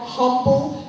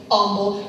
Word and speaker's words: Humble: in here who will cringe at me saying Humble, Texas, because you're supposed to say humble, and I don't care. It's humble, okay? Spelled with an H.